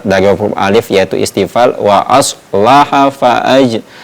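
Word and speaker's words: وأصلح: Jadi perlu diperjelas ee sifat dari huruf alif yaitu istifal wa aslaha faaj tidak boleh membacanya wa asoha wa aslaha.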